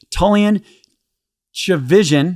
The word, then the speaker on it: Tchividjian: church his name is tan CH Vision perfect is that right yes perfect every time I think I'm right and then I try well done well done rhymes with religion relig we could write